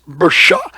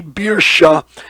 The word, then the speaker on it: Birsha: And then the sovereign of that place is Bersha. It's pronounced actually Birsha in the phonetic sound in Hebrew. Birsha, like beer, Birsha, with wickedness.